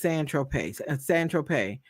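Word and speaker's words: Saint-Tropez: The defense attorney says when you bought the 8 ball of Coke on Saint Tropez, pronounced San Tropez, you didn't tell Mr.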